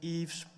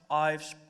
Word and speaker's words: Ives: is pretty hard name but so you can also call me Yves Yves Yves doesn't really matter my name is also